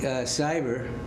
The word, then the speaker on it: Siver: We have a special guest, Mike Siver, rhymes with diver, in case you don't remember his name, pronunciation.